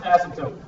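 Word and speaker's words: asymptote: See if you guys are trying to pronounce it without the P is silent.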